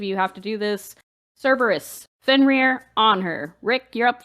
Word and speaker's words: Cerberus: kerberos it's just awesome i'm going to abandon kerberos that is how it's supposed to be said thank you that is how it's pronounced cerberus that sounds stupid though it just deserves be